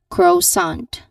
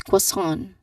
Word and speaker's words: croissant: know we understand that the common mistake people do is that they say it as croissant croissant again croissant but because you know this word it comes from French the pronunciation here is quite different it's quason again one more time. So that sound like the second syllable here it sounds a bit it sounds a bit nasal like it's in here